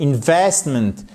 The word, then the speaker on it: investment: Et pour finir, l'investissement c'est pas investissement, non, c'est investment. Et là encore une fois, c'est tellement important cet accent tonique ici qui conditionne la bonne prononciation de chaque mot de plus de deux syllabes en anglais. Dans chacun de ces mots, vous avez un accent tonique ici sur la deuxième syllabe.